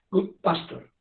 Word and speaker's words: Goodpasture: El síndrome de Goodpasture se escribe G-O-O-D, D de dedo, guión, P mayúscula, A-S, PAS, T-U-R-E, pasture, Goodpasture. No es frecuente, les repito,